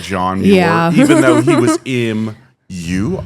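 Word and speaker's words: Muir: See, and that's how people people pronounce it like Moyer. Mure like John Mure even though he was mu I r.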